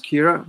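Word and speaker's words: Ciara: um a a friend's daughter whose name is kira but it's called it's it's pronounced hero but it's spelled k uh sorry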